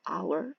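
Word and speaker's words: hour: 시작하는 거 예를 들어서 our 시간이죠 h로 시작하지만 자음이지만 발음은 묵음이라서 ours 이렇게 바르면 돼요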